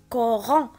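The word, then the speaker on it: couronne: الكلمة الموالية عندنا سي حداها او، والسي إلا كانت حداها او كنطقها ك، إذن كورون غنوضعها في لا كولون دو دروات.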